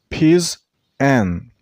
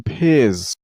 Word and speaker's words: pigeon: It has 2 syllables, Pigeon. Use the stress on the first syllable. I mean on Pigeon.